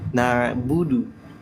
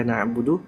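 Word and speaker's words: نَعْبُدُ: ainnya itu dapat akhirnya jadi no harusnya na ya Harusnya bukan no oke Bu no nah Insyaallah ya Nah sekarang kita lanjut lagi ya kita prakkin lagi Ya iaka naudu Nah itu hati-hati ya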